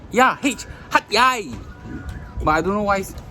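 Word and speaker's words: Hat Yai: Yeah, actually pronounced, I don't think it's called Hatyai. I think it's called Hatyai. Yeah, it's H-A, but it's H-A-T, eh. Yeah, Hatyai.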